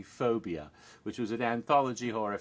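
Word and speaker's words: 4bia: And Phobia, that's spelled 4, like the number 4, and then B-I-A, Phobia, but it's actually Phobia, which was an anthology horror film in Thailand.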